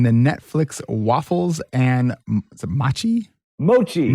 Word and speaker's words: mochi: Mochi.